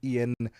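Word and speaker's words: Iain: It's it's Ian.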